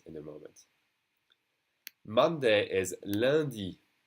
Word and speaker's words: lundi: Monday is lundi. Lundi. Okay, that UN is pronounced lundi.